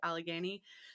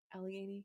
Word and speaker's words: Allegheny: money to get to Allegheny. So did I pronounce that right? Allegheny. Yeah, that's pretty much. I think that's how Dietrich Strauss says it.